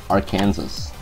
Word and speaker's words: Arkansas: Arkansas. Yeah. What are you gonna do about it? Yeah. That's how it's spelled out.